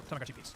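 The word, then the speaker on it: Tamagotchi P's: So for English speakers, it's pronounced like P. So Tamaguchi piece. Okay, so you know how the Tamago had little figurines that you could slide into the top. The Tamaguchi piece had a similar thing, but instead of a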